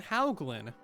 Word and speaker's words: Hauglin: Request the name Hauglin. It's just like Hoglin, but yeah, it's just Hoglin with a W.